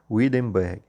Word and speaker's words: Hindenburg: E Adolfo Hitler vai correr com um homem chamado Hindenburg, ou Hindenburgo, como vocês quiserem pronunciar, certo?